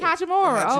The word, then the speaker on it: Hachimura: Yeah, it's Hachimura.